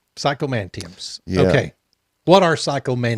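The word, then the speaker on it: psychomanteums: Psychomantiums.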